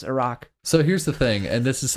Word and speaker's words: Iraq: I take out my AirPods, and the first thing I hear is him saying, yeah, it's actually pronounced Iraq, but Americans say Iraq.